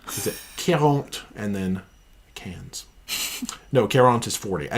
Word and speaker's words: Cairns: Oh, they said instead of Cairns, it's cans. Cans. Right, you have to say it like there.